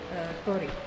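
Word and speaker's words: 氷: few slight differences, but I can't remember the pronunciation. Kori.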